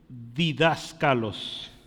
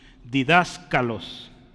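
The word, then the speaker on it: διδάσκαλος: seguidito si tiene espacio es didascalos didascalos con k de kilo Aquí hay una K didascalos didascalos yo creo que le suena didáctico verdad Entonces de ahí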